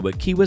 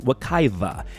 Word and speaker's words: Wekiwa: go camp back welcome to wekiwa Springs although pretty much all the locals I know including me have always called it Wekiva and that's probably because the nearby Wekiva River is usually spelled with a V whereas wekiwa Springs is spelled with the more authentic W towards the end it's kind of confusing